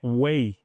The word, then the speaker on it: weigh: Detalhe importante, o ato de pesar não tem esse tezinho aqui, é way, beleza? O verbo pesar, ele se pronuncia como way e não tem esse tezinho. Já peso, que é o substantivo, wait.